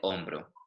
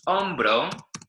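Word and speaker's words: hombro: starts with an A but the H is silent right L on bro yeah so we don't hear that H at all it's also important to distinguish on bro from hombre yeah because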